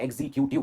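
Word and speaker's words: executive: और इसी सेंटेंस से हम लेंगे हमारा नेक्स्ट वर्ड जो है एग्जीक्यूटिव एंड नॉट एग्जीक्यूटिव। ये गलत प्रोनाउंसिएशन है, इट इज एग्जीक्यूटिव, एग्जीक्यूटिव, एग्जीक्यूटिव।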